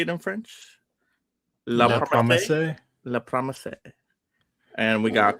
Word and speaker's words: La Promesse: La Promesse.